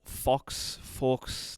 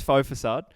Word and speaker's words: Faux Facade: him from faux facade which I always go to pronounce like Fox Forks like I always go to pronounce like an idiot but it's faux facade that is your the